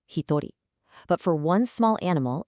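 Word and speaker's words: 一人: For one person, it's completely irregular, hitori.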